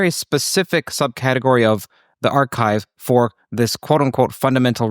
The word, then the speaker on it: arXiv: Now on the archive for those people who are listening who aren't researchers there's something called a arxiv pronounced archive sometimes at least pronounced archive where researchers post and